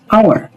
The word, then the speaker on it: hour: So, the key here is hour. The first letter is H and H is silent.